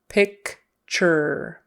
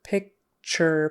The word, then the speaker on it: picture: sound picture um but typically that t in the middle is going to sound like a CH and Ur is going to sound like e r picture picture picture picture with the